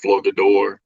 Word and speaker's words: Flogador: So we're very intergalactic, and we're from a planet called Flogador. The G is silent.